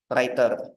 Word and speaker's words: Rytr: Memang namanya agak rumit ya sebenarnya bacanya Writer, tapi tulisannya RYTR.